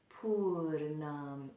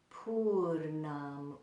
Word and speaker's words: Pūrṇam: pull it and um put that tongue back there whenever we pronounce the na na na in this word in this in this